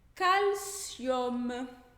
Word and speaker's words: calcium: Por exemplo, calcium. Calcium é cálcio. Aí esse UM do final, calcium, a gente vai ler com esse som de OM. OM. Calcium.